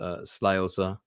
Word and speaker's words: Slagelse: This photograph, I believe, is taken in my father's parents' house, or certainly it's in Slagelse somewhere. And yeah, that's how the town is pronounced, Slagelse.